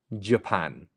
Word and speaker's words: Japan: so it is Japan Japan make sure that you're putting the stress on the second syllable um and you're falling off the J Japan very good very